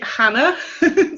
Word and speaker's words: Chana: it was my fault it's actually Hannah so yeah it's no problem so you can forget the CH just take Hannah like that say that in English